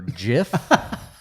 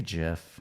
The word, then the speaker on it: GIF: I say Jiff. Yeah. I saw it on Jeopardy. The guy in a clue, he says it rhymes with Jiff, and I saw that early, and that stuck with me.